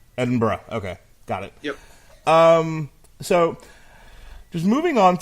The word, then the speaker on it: Edinburgh: and sorry did I mispronounce it yes it's pronounced Edinburgh Edinburgh okay got it yep so just moving on